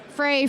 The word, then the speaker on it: Frei: it's actually pronounced FRA it's free and German so Frei Free Frey it's all the same got it I grew